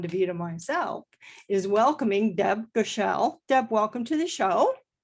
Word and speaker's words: Goeschel: My last name is pronounced Goeschel. Goeschel? Goeschel. You would never know that by looking at the spelling.